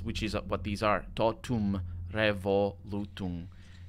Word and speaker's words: totum revolutum: Totum revolutum. In English, this would probably be tot, those would be the syllables, and then re, vol, u, tum, those would be the syllables there.